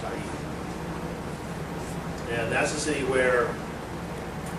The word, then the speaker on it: Ai: Capital A, small I, pronounced Ai.